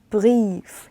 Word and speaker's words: Brief: 그럼 얘는 브리에프가 아니라 어떻게 읽어요? 브리프.